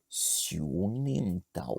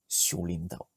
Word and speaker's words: Siu Nim Tau: Et Et en quoi c'est un raccourci de dire lim au lieu de nim? je pense que en termes de prononciation, c'est plus facile de dire Xiulintao que dire Xiunintao. Tu vois, Ah, ok, ouais.